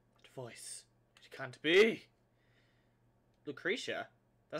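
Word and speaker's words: Lucrecia: I think it's pronounced Lucrezia, actually. Lucrezia.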